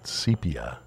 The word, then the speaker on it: sepia: It's pronounced Gordon. Sepia. It's like old-fashioned movies or old movies that are shot in sepia.